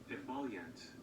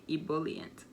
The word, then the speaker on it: ebullient: i don't like it emollient you heard that yet embolient embolient i don't like that like i like to actually hear the e so i say ebullient so yeah if you